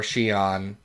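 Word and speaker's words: Cheyenne: about essentially Danny Moonstar Shion uh why did I say oh cuz that's the name of the city that's how it's pronounced and that's how I always read it Danny Shan uh and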